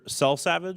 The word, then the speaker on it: Selsavage: Selsavage, is that how you say it?